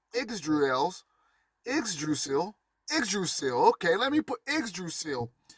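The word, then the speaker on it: Yggdrasil: is pronounced idrasil but spelled y g d r a s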